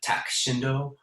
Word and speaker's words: Tak Shindo: musicians uh directed by takeshi shindo tak shindo as it was as he pronounced it and um also